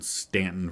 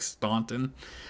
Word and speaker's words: Staunton: is actually born in Stanton, Virginia. It's spelled Staunton, so it looks like Staunton, but I'm fairly certain it's pronounced Stanton.